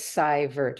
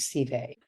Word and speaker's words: Seivert: So according to her, quote, Seivert is the German pronunciation and Seivert is the French pronunciation.